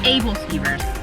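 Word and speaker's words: æbleskiver: they have arnie's famous ableskivers and i hope i pronounced that correctly because i had asked how it was pronounced and it's able steamers and these are these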